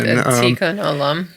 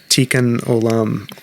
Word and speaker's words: Tikkun Olam: gonna my Jewish friends help me with this pronunciation. Tikkun Olam. Tikkun Olam, or which is known as healing the world.